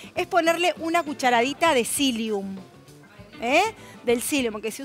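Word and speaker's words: psyllium: utilizar y recuerde que el cilium es como el psicólogo lleva una p adelante que no la pronuncias pum se escribe pilum y otra cosa Recuerden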